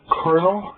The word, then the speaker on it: colonel: Kind of like a Colonel, the Colonel Sanders, that kind of thing. It's spelled colonel. There's no R in it. Somehow that's pronounced Kiribati.